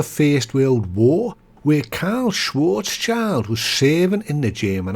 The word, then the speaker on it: Schwarzschild: I did hear a German pronounce it Schwarzscheld, but they pronounced the Schwarz part in a fashion that is just well beyond the vocal skill set of your average scouser. So for me, and for this one, is Karl Schwarzschild, or just Karl for short.